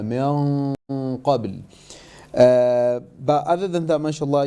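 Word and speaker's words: من قبل: And when you said min qabl, you said min qabl. You made it empty mouth where here it should have been a full mouth ghunna, min qabl.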